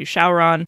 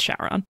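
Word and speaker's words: Syaoran: It's supposed to be a Chinese name, but when translated into Japanese katakana, the pronunciation changes to Shaoran. And then it's like a game of telephone. When it gets translated back into English, that context gets lost and it becomes Shaoran.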